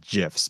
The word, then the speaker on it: GIF: And you see people making GIFs, or technically they're supposed to be pronounced GIFs because that's the way the creators.